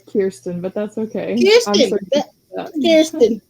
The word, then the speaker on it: Kierstan: So I'm gonna bring up Kristen, and did I pronounce that correct? Is it Kristen or Mm? no, it's Kierstan, but that's okay.